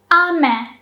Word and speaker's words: 飴: And the second one was ame. Ame. The first syllable, is pronounced with a low pitch. And then it goes up.